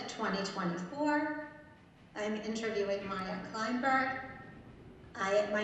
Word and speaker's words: Kleynberg: I am interviewing Maya Kleynberg.